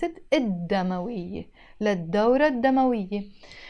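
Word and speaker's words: الدم: del as I said we don't pronounce the L before them l demo we even if it's written instead of saying L demoiii I pronounce it Adama we let door Adama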